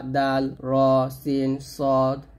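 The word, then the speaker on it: راء: গাণিতিক মান হচ্ছে 100 র এখানে রা বলা যাবে না বলতে হবে র র এর মান হচ্ছে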